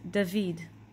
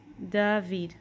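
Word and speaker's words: דוד: is David in English the way we pronounce it in Hebrew is dahveed dahveed which is David okay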